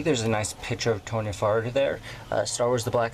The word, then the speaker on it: Toryn Farr: Black Series number 23, Toryn Farr. So without further ado, let's get started. And by the way, I've been calling her Tanya Farr. That is obviously way off, but my apologies if I keep pronouncing it that way.